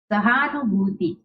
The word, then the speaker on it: सहानुभूति: इसका उच्चारण कैसे करेंगे, एक बार मेरे पीछे आपको भी बोलना है, साहित्यिक। श्रोताओं, मुश्किल, सहानुभूति, सहानुभूति, है ना।